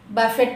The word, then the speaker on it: buffet: Buffet to bucket కాదండి, it's buffet. Letter T is silent here.